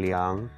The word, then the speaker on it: 两: learn what is the difference between r and liang the number two can be pronounced as r for liang r is used